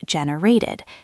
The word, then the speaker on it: generated: So generate becomes generated. It sounds like id at the end.